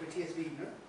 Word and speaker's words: Matias Viegener: Okay, so we'll start with Matias Viegener. That's the correct pronunciation.